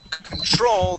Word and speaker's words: control: control exactly assume control now control the accent is at the uh end of the word control right there control okay one more